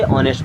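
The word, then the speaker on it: honest: यहाँ पे H silent होता है, इसे ऑनेस्ट पढ़ते हैं, ठीक है ना।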